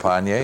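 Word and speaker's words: Trepagnier: Trepanier? Maybe. Did I pronounce that correct? Trepanier, yeah.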